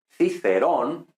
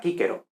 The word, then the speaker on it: Cicero: Entonces, por ejemplo, el famoso Cicerón, que en español decimos Cicerón, los italianos dirían Cicerone, pero en latín clásico sería Cicero, o sea, Cícero, ¿no?